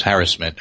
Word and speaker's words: harassment: other than the divisive discussion of how to pronounce harassment which is harassment actually and rather divisive but let me ask